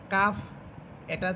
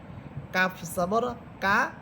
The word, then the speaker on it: কাফ: কাফ এটা চিকন হরফ আর কফ এটা মোটা হরফ। কাফ সবর কা, আরেকটা হচ্ছে কফ সবর ক, ক, এভাবে।